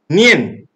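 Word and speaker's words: 念: But by looking at this word, the Chinese characters of sati or mindfulness, this word is pronounced nian in Chinese.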